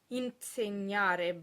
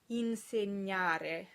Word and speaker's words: insegnare: In this last example, you'll want to be careful not to insert a T between the N and the S.